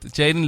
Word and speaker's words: Jaydon: everyone will know it everyone will know it Jaden that's j a y d o n